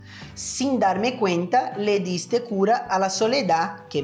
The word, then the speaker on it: diste: eu deixei em evidência, se eu não soubesse a pronúncia das letras D e da letra T em espanhol, com certeza eu iria dizer diste, certo? Diste. Mas a pronúncia correta dessa palavra é diste. Letra D com som de D mesmo e letra T também com som de T mesmo. Não diste, e sim diste.